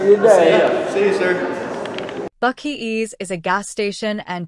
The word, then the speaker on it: Buc-ee: Is it, how did you say it? Buc-ee boys? Buc-ee boys, yeah.